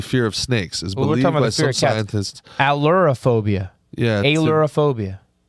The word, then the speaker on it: ailurophobia: Allurophobia. Yeah. Allurophobia. AILURO-phobia. Oh, go back. Cats don't like to be stared at. So people who have allurophobia are more likely to attract cats because the animal feels more at ease.